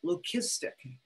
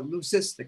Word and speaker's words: leucistic: Well, that's called leucistic, or leucistic is sometimes pronounced.